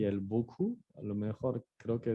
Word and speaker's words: beaucoup: Y otra vez, se puso otra vez el trop y el beaucoup. A lo mejor creo que eso se quedó de la vez pasada, pero acuérdense que la P al final no se pronuncia.